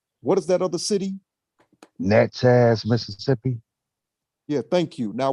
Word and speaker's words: Natchez: okay but there's a second city that i mispronounced the name what is that other city natchez mississippi yeah thank you now what i want